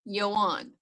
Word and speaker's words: Ioan: It's Yoan. Try to remember that. I got in got in the habit of thinking I knew how to pronounce it. Apparently, I was wrong.